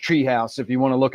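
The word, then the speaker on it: TRE House: It's TRE, but it's pronounced Treehouse if you want to look it up online.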